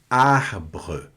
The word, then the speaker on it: arbre: O R no francês, ele tem uma característica muito marcante, porque ele sempre vai ser pronunciado na garganta, de uma forma para arranhar mesmo a garganta. Então, sempre você vai forçar um pouco o R mais aqui na garganta.